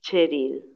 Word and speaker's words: Cheryl: Preguntándome cuál sería mi nombre, pensé, me pregunto si Prabhupada sabrá que mi segundo nombre es Cheryl, que se pronuncia como la Che de Chile, la CH de Chile.